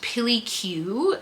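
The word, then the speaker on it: PilyQ: I think it's pronounced Pilly Q. P I L Y Q.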